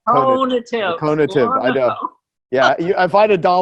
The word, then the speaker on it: conative: Like, what's the difference between cognitive and cognitive? Joe, God love you. I've known you for so many years and you still don't say it right. It's I know. Conative.